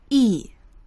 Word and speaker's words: 一: 一起，一起。When 一 plus the fourth tone, 一 should change to the